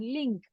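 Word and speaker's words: 零: recuerden, se pronuncia como los cajeros automáticos, que le decimos link.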